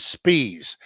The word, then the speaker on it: Spies: I'm pretty sure her pronunciation is Spies.